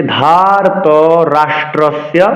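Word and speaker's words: ধার্তরাষ্ট্রস্য: এবার পরবর্তী চরণে যাচ্ছি ধরত ধা মহাপ্রাণ ধারত রাষ্ট্রস পাচ অক্ষর রাষ্ট্রস নয় কিন্তু রাষ্ট্র রফলচন করতে হবে রাষ্ট্র বলা যাবে না আপনারা হয়তো খেয়াল করছেন এখানে আকারও কিন্তু নেই রাষ্ট্র নয় পুনরাবৃত্তি করছি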